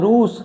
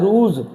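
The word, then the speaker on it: ruse: देखो इसको आप पढ़ना, इसको आप पढ़ोगे तो क्या आ रहा है? रूस। क्या आ रहा है? रूस। लेकिन इसको पढ़ा क्या जाता है? रूज, जो पढ़ा जाता है, जो।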